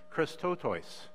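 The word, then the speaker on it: χρηστότης: used in Scripture and the Greek word is pronounced Christo toys and what that word means is compassion and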